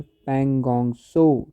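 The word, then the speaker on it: Pangong Tso: Lake जो है आपका इसका दूसरा नाम बोलते हैं पगोंगसो टी एस ओ ये जो टी है यह साइलेंट रहता है।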